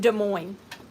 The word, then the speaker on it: Des Moines: Moines, end up being Des Moines? That is not a me problem. That's a world problem. How is DES duh? Name one other example where something S in the S is silent.